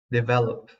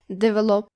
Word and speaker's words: develop: to our next word, develop. Yes, develop is quite an easy verb to pronounce. Don't say it like develop. Make sure you're saying all the vowels correctly. Develop. Develop.